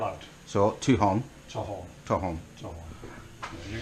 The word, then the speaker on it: Tolquhon: Obviously you think that the QU were there, so Tolquhon, but maybe Tolquhon? Tolquhon? Tolquhon, take out the Q and the U.